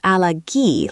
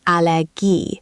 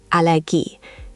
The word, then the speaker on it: Allergie: In German, it's not Allergie like the English, it's Allergie, with the stress landing on that last syllable. Allergie. The ending "gie" sounds like G in geese. Try once more. Ich habe eine Allergie.